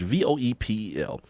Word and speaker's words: Voepel: I want to say her name is Voepel. It's Voepel, and she writes for ESPNW.